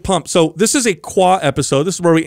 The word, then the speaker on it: Quah: Now, Quah is just us pronouncing the word Q&A, and we'll pick our favorite questions and we'll answer them.